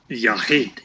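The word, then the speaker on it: יָחִיד: Unaccented syllable, and it is open. So the rule is? Mm-hmm. Unaccented open would be a long vowel. Yes. Mm-hmm. So it would be yahid.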